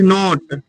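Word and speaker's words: know: उसके बाद he does not जानना की इंग्लिश नो का नहीं पढ़ना इसको नो पढ़ना कि साइलेंट है मुझे का मी वह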